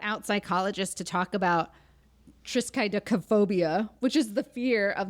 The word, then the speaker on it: triskaidekaphobia: And it was like, you have to pronounce each syllable.